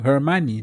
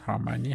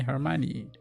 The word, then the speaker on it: Hermione: Hermione, not Harmony. Hermione.